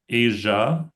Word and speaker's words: Asia: um Asia with a sound um that you don't come across very much in English. Um whereas like pleasure, vision, treasure um so vision vision treasure pleasure has the um sound.